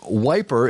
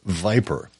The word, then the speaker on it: viper: but it's just that that east end of london pronunciation for viper um which is you